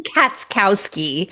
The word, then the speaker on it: Katskowski: Katskowski, the CH is silent. Cats. Okay, Right. Katskowski. Now you got it.